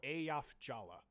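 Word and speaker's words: Eyjafjalla: Or no, Ayaf Jala. The first J is pronounced like a Y, and the second J is pronounced like a J.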